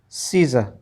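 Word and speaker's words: Caesar: इन दोनों ही शब्दों के अंदर, उन दोनों ही वर्ड्स के अंदर क्या है, जो ए है वो साइलेंट है, मतलब ए का जो उच्चारण है वो नहीं किया जाता है। ऐसे ही यहाँ पर भी दूसरे शब्द में भी, हीमोग्लोबिन में भी ए का उच्चारण नहीं है।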